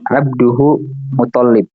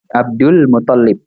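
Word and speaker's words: Abdul Muttalib: Jadi abduhu mutallib. Nah, jadi mana jatah alif lamnya gitu kan? Jadi dibacanya Abdul Mutallib ya.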